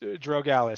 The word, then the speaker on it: Drogalis: part right which is lucky uh and it's pronounced drogalis so it's close enough I usually will not